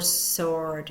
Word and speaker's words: sword: in Psychology or Psalm silent w we do not hear the W in right or sword in that Conant blend